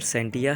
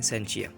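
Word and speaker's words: scientia: तो बेटा ये जो वर्ड सेंटिया है इसकी प्रोनाउंसिएशन सेंटिया भी है और कुछ लोग जो है इसको प्रोनाउंसिएट करते हैं सेंचिया, तो जिसका मीनिंग है नॉलेज।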